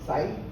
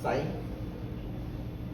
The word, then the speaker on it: psi: So it's pronounced psi. It's a Greek letter. It's psi.